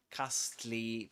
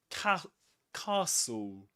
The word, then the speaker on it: castle: the s is silent and the e at the end as well. Right? We don't say castle castle castly. We say castle. Castle. In southern standard British English we say castle. So, we don't pronounce this letter and we don't pronounce the final e.